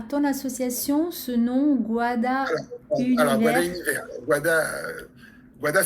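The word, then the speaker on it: Gwada: Et donc ça s'écrit G-W-A, D-A, puisque le son gua en phonétique créole, c'est W.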